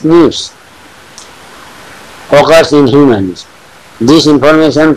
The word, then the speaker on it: SNP: Scientists have identified about 1.4 million locations where single base DNA difference SNP, single nucleotide polymorphism, pronounced as NIPS, occurs in humans.